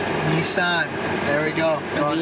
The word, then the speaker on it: Nissan: It's pronounced Nissan. Nissan, there we go.